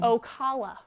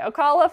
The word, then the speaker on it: Ocala: we going to Osceola where are we going okawa Oh hallo sorry no still got it wrong